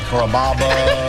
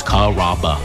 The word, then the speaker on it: Carrabba: Growing up, people always had a hard time pronouncing my name. People chop it up pretty good. You know, Carrabba, Carababa, Caramba. It's a really easy name to pronounce. It's Carrabba. Come to Carrabba's for dinner.